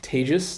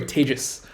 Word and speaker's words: Tejas: Hi, my name is Tejas. That's pronounced like contagious, or maybe in pandemic times, advantageous is probably better. Either way, Tejas. Say it with me. Tejas, right?